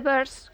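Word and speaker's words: Byrds: Y se pusieron The Birds, que no se escribe igual que pájaros, pero más o menos, viene a sonar igual, porque ya estaban los escarabajos.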